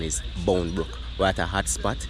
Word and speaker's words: Boundbrook: they have bom Brook Country people call it bom Brook but you don't know the correct pronunciation is Bone book we at a hot spot where they do